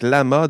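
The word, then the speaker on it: LLaMA: sortie de de Lama je vais le prononcer comme ça l L a M a donc laama de méta donc de face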